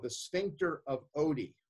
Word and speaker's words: Oddi: At the ampulla of Vater, there's another structure called the sphincter of Oddi. Reminds me of the dog in Garfield, but it's spelled differently.